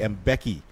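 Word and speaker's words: Mbeki: he gets his first name I know it's mispronounced a lot here locally played the mvk and some other different but it's actually M Becky joose well he started his his his training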